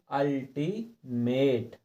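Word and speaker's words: ultimate: और इसी प्रकार से देखो ये भी अल्टीमेट, क्योंकि हमें जितने ये शब्द दिए हैं तो इन सब शब्दों में यू के बाद डबल व्यंजन दिए हैं।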